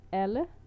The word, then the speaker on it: alle: forgot the word, then it's another word called alle. When it's avenue it's pronounced allé, allé.